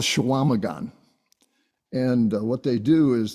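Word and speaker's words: Chequamegon: So my daughter went to school in northern Wisconsin on Lake Superior, and up there it's called Shawamagan.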